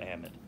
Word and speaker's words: amide: both ways so Amador a might have wherever you want to put the emphasis on whatever syllable you want to do it okay you can get a might or am it okay now where is